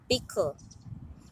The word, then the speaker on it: bickle: And I am going to tell you a Jamaican word that has the L sound at the end. Could you call this word? This word is bickle.